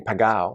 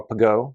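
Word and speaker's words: Pegau: to pop include domain pagao or pago depending on how you pronounce it even the family pronounces it two different ways and so i tend to pronounce it pagao of course bo castel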